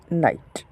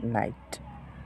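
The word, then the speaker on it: knight: তার হচ্ছে নলেজড এক নাম্বার তারপরে দেখেন আরেকটি নাইট দেখেন নাইট অশ নাইট মানে অশ এখানে লক্ষ করে দেখলেই বুঝতে পারবেন আবার এখানে কে এর পরে এন আছে কিন্তু এই কে এর উচ্চারণ হবে না কে উচ্চারণ হবে না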